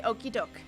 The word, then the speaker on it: okie doke: Oh, you say okie doke. I say it like Coke except with a D.